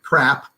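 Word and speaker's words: CRRAHP: you make it into an acronym c-r-r-a-h-p is pronounced crap but anyway um actually i like that so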